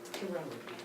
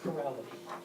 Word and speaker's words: chirality: chirality or chirality. So if I pronounce it with CH with a ch tonight, you'll understand, because I keep wanting to do that.